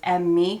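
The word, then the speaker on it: Emme: american so one is what i believe is pronounced as me cosmetics e-m-m-e and the other is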